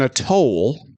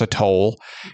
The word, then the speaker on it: atoll: in this movie pronounce atoll, because they don't say atoll, they say atoll. As in like, oh, look, I need to go up to that booth and pay a toll, not a toll.